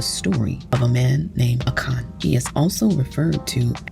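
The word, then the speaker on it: Achan: And it's pronounced A W K A W N.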